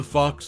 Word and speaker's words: Foch: Lastly, for those curious about her last name, Foch rhymes with Gosh, providing a phonetic insight into the pronunciation of her distinctive surname.